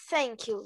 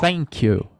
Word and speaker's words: thank you: que se pronunciaria o thank you oh thank you é com z ou com f bom então se escreve com T mas na hora de pronunciar você tenta imaginar um F realmente entendeu sem dinheiro